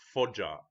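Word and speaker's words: Foggia: to the Medieval Era and uh the correct pronunciation is fja it Italy and uh the part of China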